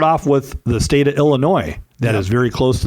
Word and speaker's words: Illinois: so I definitely llinois it's not Illinois zazz it's spelled it's Illinois Aloha I think one